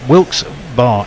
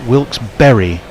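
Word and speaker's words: Wilkes-Barre: us um sorry guerrillas but wilkes bar is pronounced wilkes-berry wilkes berry so it's the wilkes-berry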